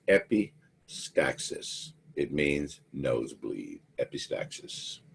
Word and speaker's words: epistaxis: word for it down there that word is pronounced epistaxis it means nose bleed epistaxis you got a